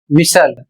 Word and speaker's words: whistle: अगला शब्द है डब्ल्यू एच आई एस टी एल ई और इसे पढ़ा जाएगा विसल।